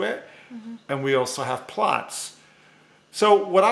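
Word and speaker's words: Platz: hear me sometimes say the word plots, and that's spelled P-L-A-T-Z. It's a German word, and I think it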